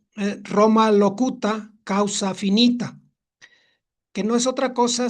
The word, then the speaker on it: Roma locuta causa finita: Y hay una frase en latín que se pronuncia Roma locuta causa finita, que no es otra cosa sino que habla Roma, la discusión termina.